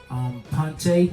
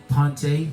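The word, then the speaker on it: Panache: this one, which is L1212 Paul Louis French Panche, I guess. Panche, P-A-N-A-C-H-E. That's how you spell it.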